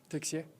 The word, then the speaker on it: Texier: Quelle a été la différence entre d'abord, ton nom de famille, comment tu le prononces? Texier. Texier, parfait.